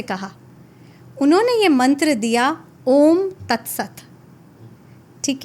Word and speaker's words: ओम: इसको डिवाइड किया जाता है 20, 30 और 50% में। 20% ये स्टार्ट होता है हमारी नाभि से। और यहां से उच्चारण शुरू होता है आ। फिर हमारी छाती में 30% और इसका उच्चारण होता है ओम 50% हमारे होठों पे और इसका उच्चारण होता है इस तरीके से ओम का उच्चारण किया जाता है।